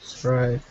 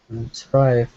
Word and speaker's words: thrive: Okay, strive. Thrive. Okay, oops, I'm saying it wrong. Thrive. When it's the th, say it again, Anton. Thrive.